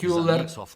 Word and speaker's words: Köhler: Ну, моє прізвище за походженням німецьке. можна вимовляти кюлер. - це суміш Кохлер та кулер. Коли ви поєднуєте обидва разом, це виходить клер.